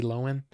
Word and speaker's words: Lohan: what I mean I love that but no and Lindsay Lohan no Lo it's actually loen now is that and that's how you say it Lindsay loen even though it's spelled Lohan no um I